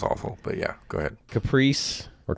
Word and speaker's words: Caprese: Caprice or Caprese. I'm not sure if that's how they say it. Caprese, Anyway. maybe? Caprese salad?